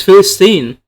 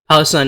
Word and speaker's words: Palestine: It's Philistine. And sure, he says it a little bit odd, but I mean, Philistine is like the Arab pronunciation. Palestine, how we say it in English.